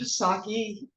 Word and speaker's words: Pisaki: I am Pisaki. Yes, it's the same name, but I do pronounce the P.